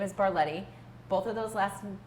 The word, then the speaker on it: Barlette: maiden name is my Mary name is bar Letty both of those lesson names are hard to pronounce and they are even harder to spell